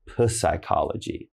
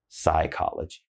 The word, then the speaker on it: psychology: Again, not psychology, just psychology. So then, down here on the next one, similar to psychology, we have psychiatrist. Now, psychiatrist is a doctor who is an expert of psychology, okay?